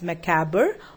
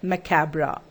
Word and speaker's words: macabre: move towards macabre now this word can be pronounced as macabre or macabre something strange and unpleasant now